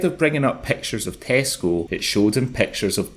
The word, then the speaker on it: Tesco: But Nicole said the hilarity started because Shawny mispronounces the name of the supermarket giant saying "Tessaco" rather than Tesco.